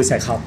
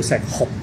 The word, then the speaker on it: 石斛: 嗱，糾正一下，香港人咧叫石斛，但真正的讀音叫石斛。石斛，酷熱嘅酷。OK，不過咧